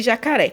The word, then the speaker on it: jacaré: Por exemplo, aqui, ó, de jacaré. Faz de conta que é jacaré e você está chamando por ele. Jacaré! Aí o ré também, né? Essa última sílaba, você demorou mais falando essa palavra. Então, ela é a sílaba tônica.